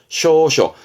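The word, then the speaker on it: 詔書: 해서 고할 조 조서의 조자인 조서를함은 이게 조선입니다 발음은 쇼셔 쇼쇼 조서함은 왕의 뜻을 왕의 말을 일반 국민들에게 널리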